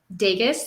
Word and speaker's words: Dages: Dages, like Vegas, so with a D.